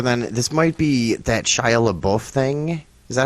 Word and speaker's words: Shia LaBeouf: comes up other than this might be that Shia LaBeouf thing is that how you say his name yeah both yeah Shia LaBeouf that's right Shia LaBeouf arrested at anti-trump Art